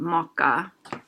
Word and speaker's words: må ikke: I pronounce this more together. So må ikke, I would, unless I'm really trying to be stroppy and pronounce them separately, I generally pronounce it more close to mokka. So the ma and ikke, I would pronounce them as if they were one word kind of squished together. Mokka.